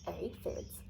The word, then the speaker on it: aphids: It was a pretty sad day when the aphids, pronounced aphids, arrived.